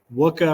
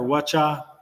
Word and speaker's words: Wacha: really liked what uh wuka or Wacha all right can never pronounce his name it's like you know Chewie Chewbacca and then I was